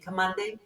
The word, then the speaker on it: Kamande: And Kamande. Njoki corrected the pronunciation. You should correct all our pronunciations of Kikuyu words, by the way. It's a hard D. Kamande, yes?